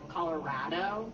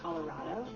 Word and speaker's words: Colorado: Lots of people say that it has no accent, but you'll definitely get called out if you say Colorado. It's Colorado. I've been told from people in New York that my state has an accent.